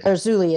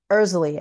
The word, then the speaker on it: Erzulie: So I used to say Er-zuh-lee as well, because that's what it looks like, but it's Er-zuh-lee actually.